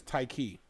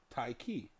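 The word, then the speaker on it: Ticie: know what I mean they'd be like TC when it spells t-i-c-i-e but I always say it's like a tie in the key Thai key so after you know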